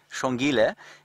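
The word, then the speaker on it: Xongile: The names are spelled, Shongile is spelled X-O-N-G-I-L-E, and the male, or the male's name, small chief, or small king, or prince, is H-O-S-A-N-A.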